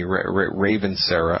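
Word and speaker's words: Ravensara: One is called Ravinsera, R-A-V like Victor, E-N like Nancy, S-E-R-R-A, Ravinsera, I guess is another way to pronounce it.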